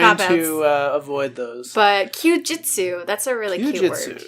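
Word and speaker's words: 休日: Would you like which to try to pronounce it? Kyujitsu. Yes. Kyujitsu.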